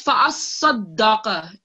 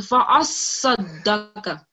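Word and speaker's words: فَأَصَّدَّقَ: Well, you couldn't pronounce the second shadda. So it's fa'as-sadaqa.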